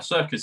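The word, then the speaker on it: Serkis: that they said they've got Andy Circus and circus is spelled different I think it's s r kis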